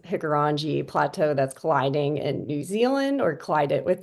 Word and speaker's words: Hikurangi: There's been plateaus, I believe it's pronounced Hikurangi Plateau that's colliding in New Zealand or collided with New Zealand.